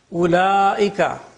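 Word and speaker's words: أولئك: Ulaika, the waw is not pronounced.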